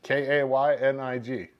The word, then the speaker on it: Koenig: And he told me how to pronounce his name, and it was Kaynig. But it's spelled Koenig.